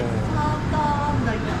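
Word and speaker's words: サーターアンダギー: サーターアンダギー。え？サーターアンダギー。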